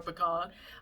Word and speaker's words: pecan: a pecan oil pecan pecan depends on how where you were raised in the country whether people say pecan or pecan um so i don't